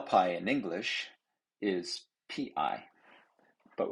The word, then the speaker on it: pi: pi in english is p i but we pronounce it as p i e pi just as in apple pie which we can't help